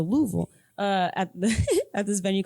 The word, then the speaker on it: Louisville: They taught me how to say it correctly because I used to say Louisville, and they're like, "Nah, girl." That's probably how I was. Louisville. Okay. So Louisville.